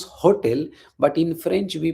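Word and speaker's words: hôtel: So in English we pronounce hotel but in French we pronounce hotel. Hotel we don't pronounce H.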